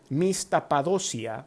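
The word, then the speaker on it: μισθαποδοσία: La palabra galardón en la Biblia viene de una palabra griega, mistapadosia, eso se pronuncia la palabra griega y significa el pago de un salario, una recompensa o un premio.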